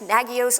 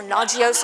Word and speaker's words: Nagios: new thing and also you're pronouncing it wrong it's nagios or naio or let's not even go there I'm not here to